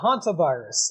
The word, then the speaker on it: hantavirus: Sean Graham from Down Under talking about the hunter virus is that how you pronounce it yeah hantavirus uh the hantaviruses are named for a um